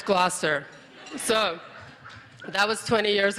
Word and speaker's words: Gloucester: And it's Gloucester. So that was 20 years ago, and now I've learned that it's actually Gloucester. Half of it doesn't get pronounced.